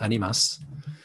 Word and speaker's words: Animas: spanish word for souls that would be pronounced by spanish speaking people more like animas but in and it's